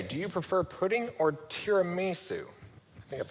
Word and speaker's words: tiramisu: Renee, do you prefer pudding or tiramisu? I think that's how you say it. Tiramisu?